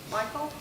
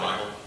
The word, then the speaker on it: Michal: So Saul gave him, how do you pronounce her name? Michal? I call her Michael. Michal, okay.